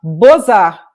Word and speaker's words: Beaux-Arts: Belas Artes, se chama Beaux-Arts em francês, né? Então, Beaux-Arts se escreve B-E-A-U-X, Art, A-R-T-S. Aí eles mudaram o nome do museu para Beaux-Arts, assim, B-O-Z-A-R, que é como se pronuncia.